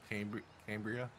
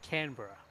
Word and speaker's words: Canberra: Is it Cambria? You say Cambria? Want to say their attempt? Is that what you said, Lon? Yeah, Cambria. It's actually just Canberra.